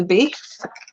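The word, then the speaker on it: beith: here which is a base um that's pronounced but and the tree Association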